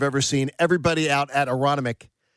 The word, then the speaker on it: Aronimink: Everybody out at Aronimink I don't pronounce the second N cuz I'm from Delco.